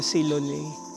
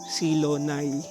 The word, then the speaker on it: Silonay: Hindi siya silone silonay. Silonay pala yung pronunciation niya kung saang located ito.